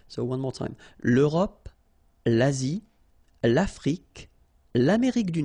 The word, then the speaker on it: Asie: L'Asie, same thing here, final E is not pronounced.